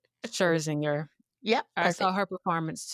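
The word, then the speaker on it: Scherzinger: Sherzinger. Sherzinger.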